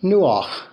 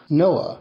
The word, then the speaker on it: Noah: So he gives him the name Nuach, Noah, which not only means to draw breath, but which rhymes with ruach, the Hebrew word for the Spirit of God, which in